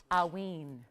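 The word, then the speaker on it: Haüyne: and it is pronounced aween the H is silent aen so that's how you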